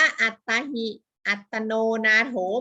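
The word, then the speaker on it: อตฺตา หิ อตฺตโน นาโถ: พุทธศาสนสุภาษิต อชิ 1 นี้ อ่าน ว่า อัตรา หิ อตตโน นาโถ นะ คะ อ่าน ว่า อัตตาหิ อัตโนนาโถ หมาย ถึง ตน แล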